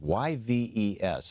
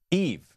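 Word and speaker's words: Yves: how to pronounce this y Vees how do you pronounce that name Eve thank you Eve Smith uh which is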